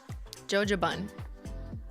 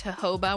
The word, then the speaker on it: jojoba: i do believe that the proper pronunciation is jojoba where the j is silent however it's kind of